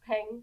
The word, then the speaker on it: peng: Okay, so like ping, but pang. Yeah, peng.